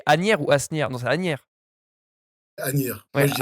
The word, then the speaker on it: Asnières: Alors, j'arrive jamais à le prononcer. C'est Asnières ou Asnières? Non, c'est Asnières. Agnières. Moi, Ouais, je dis Agnières, en tout cas.